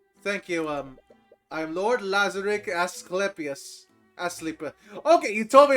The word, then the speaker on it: Asclepius: Thank you, I'm Lord Lazaric Asclepius. Okay, you told me how to pronounce Asclepius.